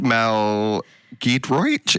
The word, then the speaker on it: Mel Giedroyc: Mel Giedroyc?